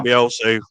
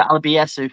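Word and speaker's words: Alebiosu: Alabiosu. Alabiosu. I was about to say Alabiesu. So there you go. That's where I was butchering another name there.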